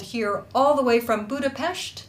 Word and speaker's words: Budapest: all the way from budapest that's how you say it budapest hungary and she will